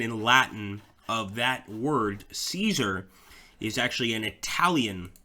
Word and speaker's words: Caesar: in Latin would be Ka kaar so like German Kaiser with an e at the end Kaiser um and this